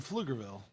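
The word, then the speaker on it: Pflugerville: grew up the the the name of the city has a silent p and where did you grow up i'm from flugerville but it says pfl yeah love it so it's actually pfl so it looks hilarious like puff lugerville but it's just flickerville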